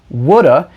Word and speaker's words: would've: not here would have which is often contracted to would've which is often pronounced woulda is used to talk